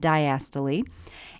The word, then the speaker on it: diastole: Systole and diastole. By the way, many people pronounce the terminal E, so you'll hear it as systole and diastole.